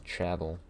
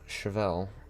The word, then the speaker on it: Chevelle: Which originally I pronounced as Chabel, but I was like, damn, that is really dumb.